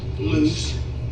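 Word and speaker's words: Luce: heard a different event Matt loose I think it's spelled l-u-c-e Matt loose has been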